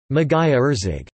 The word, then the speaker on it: Magyarország: The sound-voiced palatal plosive, written gy, sounds similar to d in British English duty.